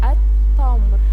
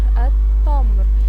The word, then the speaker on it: التمر: لام ايه لام شمسيه طب احنا اتفقنا اللام الشمسيه تكتب ولا تنطق يبقى هنقول ايه التمر التمر طيب يبقى التمر لام شمسيه طيب العنب العنب ها